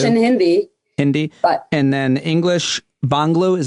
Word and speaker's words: Bangla: And then English, Bangla, is how it's pronounced, Hindi.